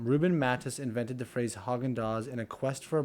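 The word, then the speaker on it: Häagen-Dazs: mattis invented the phrase haagen-dazs in a quest for a brand name that he claimed was danish sounding however the company's pronunciation of the name ignores the letters a and z and letters like a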